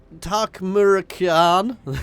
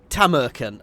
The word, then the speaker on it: Tamurkhan: I am playing as takan however I say it properly it's tamaran KH I do know